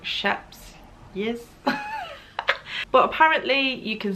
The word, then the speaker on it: Scheepjes: say already um but this is the sheepies that is not how you say it like the proper way to say it i think that's something like shep's yes but apparently you